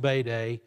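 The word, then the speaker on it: Bede: by the name of bayday it looks like bead it's pronounced bayday he he actually made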